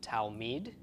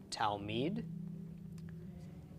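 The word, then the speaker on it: תלמיד: So altogether, it's pronounced talmid, talmid.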